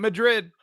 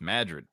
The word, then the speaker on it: Madrid: It ain't Madrid. It's Madrid.